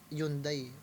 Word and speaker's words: Hyundai: kong kotse ano iung hundai accent e tawag nila dito sa America hundai hindi Hyundai kasi ang pronunciation yata sa Korea Hyundai o Pero dito sa